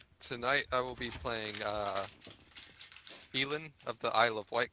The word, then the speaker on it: Elin: And It's pronounce Elin. E-L-I-N. it?